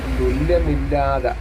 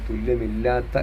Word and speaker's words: തുല്യമില്ലാത്ത: ലസിക്കുന്നു വല്ലഭമംഎഴും വിനതാത്മജൻ അനന്താരെ തുല്യമില്ലാത എന്നാ എഴുതിയേക്കുന്നത് അവിടെ തുല്യമില്ലാത്ത എന്നുമായി പറയണം വല്ലഭംഎഴും വിനതാത്മജൻ ബിനതയുടെ പുത്രനായ